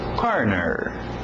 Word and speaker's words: corner: Corner, forte no R, corner.